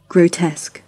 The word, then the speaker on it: grotesque: grotesque, grotesque, grotesque, grotesque, grotesque. अब चलते हैं वर्ड नंबर 13। उसका मैं प्रोनाउंस करता हूँ, आप पकड़िए प्लीज़।